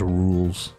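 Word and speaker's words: Rouxls: it makes sense yeah like rules as in the rules the rules anyways um what does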